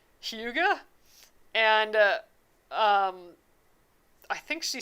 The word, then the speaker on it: hygge: But I think I got the one that it's spelled like HYGGE, and I think she said how it's pronounced. It's like Huga, and I think she